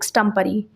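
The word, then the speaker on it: extempore: एक ऐसे भाषण जो बिना तैयारी के बोला गया है, स्टम्परी कहते हैं, करेक्ट प्रोनाउंसिएशन है स्टम्परी।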